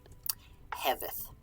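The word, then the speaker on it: hefeþ: Over kneu heveth. H-E-F-E. Ev. Here. Heveth. Remember that F between vowels? Like in over, it's a V sound.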